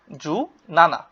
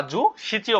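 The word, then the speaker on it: 十七: জু রকু অর্থ 16 17 কে কি বলা হয় জু নানা জু অর্থ 10 আর নানা অর্থ কি সাত 10 এ সাতে হচ্ছে 17 বা জু সিচিও বলা যায় জু হাচি অর্থ হচ্ছে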